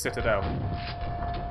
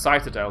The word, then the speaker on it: Citadel: two ogres in this Citadel that's right it's not to be pronounced cited l because that was what